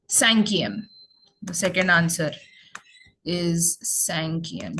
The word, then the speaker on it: cinquième: So fifth we have here written, it's cinquième.